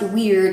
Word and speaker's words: Wyrd: which is it's the it's pronounced weird although it's wyrd it